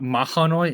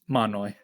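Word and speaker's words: Mahanoy: um help out here it's not mahoi it's just manoi no I refuse listen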